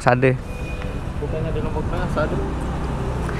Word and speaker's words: Sade: Bukannya di lombok tengah Sadee. Dibacanya Sade apa Sade. Sade. Sade. Bisa sade.